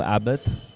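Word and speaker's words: Abbath: talk about the new abbat or abbat if uh how do you pronounce it for me it's abbid it's not because I can take a bath I can Abit yeah it's abbit right yeah Abid it's called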